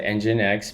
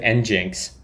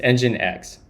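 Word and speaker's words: nginx: I met somebody recently that said engine X pronounced it like uh how did they say it? It was the strangest thing and I didn't understand what they they said Jinx.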